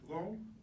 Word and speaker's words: Loux: Loux. Loux. It's like hitting your thumb with a hammer. You get the ow.